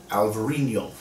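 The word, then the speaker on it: Alvarinho: that word before and alvarinio alvarino yes is the same as albarino in spain that's el mourinho in portugal it is alvarinio but to say great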